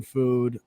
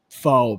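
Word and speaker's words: pho: I love like Asian food. Um like I'm really big into I'm really big into it's spelled fo, but it's pronounced f. I'm really big into f.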